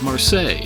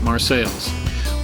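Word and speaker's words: Marseilles: you're a worldly person you might think to pronounce this lock as marsel like the town in France but I grew up around here and all the locals call it marceles we got lucky right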